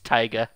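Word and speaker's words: taiga: how to pronounce it it's tyga basically say tiger but act like you're from boston okay i'm sorry you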